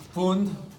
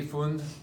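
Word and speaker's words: Pfund: It's pronounced Fund. P-F-U-N-D, Fund.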